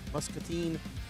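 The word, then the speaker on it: Muscatine: Up next for the INS is Island Raceway in Mus Musketine, Iowa.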